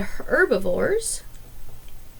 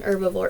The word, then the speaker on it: herbivore: second group are the herbivores the h in herbivore is silent so herbivores eat only